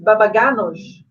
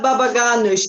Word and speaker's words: Babaganoush: So, Shafak, how can you pronounce Babaganoush? It's Babaganoush. Exactly, you're pronouncing very well, Babaganoush.